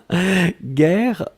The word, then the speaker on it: guerre: Guerre, on écrit effectivement G-U-E-R-R-E. Donc vous avez le double R, donc qui ouvre la prononciation du E, et donc c'est la raison pour laquelle vous prononcez guerre.